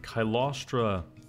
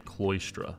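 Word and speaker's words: Cylostra: And it looks like Kylostra, I always used to pronounce her name Cloistra.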